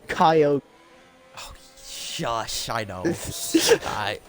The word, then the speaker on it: Kyogre: Yeah, as a Pokemon expert, it's pronounced Kyogre.